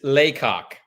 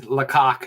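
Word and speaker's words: Lacock: you say that do you say Clancy it's Lok it is laok and that was Clancy's favorite town in all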